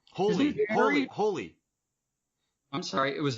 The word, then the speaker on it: Hole: hero's name is Harry Hole holy holy I'm sorry it was Harry Hole in the movie I've always pronounced it Harry holy like it's Norwegian - so it's not